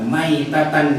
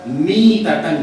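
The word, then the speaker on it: ميتة: Kata Ibnu Hajar Al-Asqalani, membacanya itu bukan mata maitatan jahiliyah, Tapi yang benar adalah mata mitatan jahiliyah, bukan mai tapi mi.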